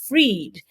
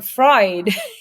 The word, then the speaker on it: Fried: was f or i e d and it's pronounced freed but it was calling a fried and it's not wrong but it's not you